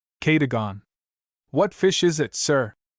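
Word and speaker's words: Cadogan: It may or may not be necessary to mention that my cook's name is locally pronounced. Katagon.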